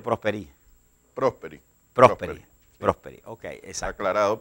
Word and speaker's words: Prosperi: ¿Me vas a aclarar, Carlos, cómo es la pronunciación correcta? ¿Es Prosperi o Prosperi? Prosperi.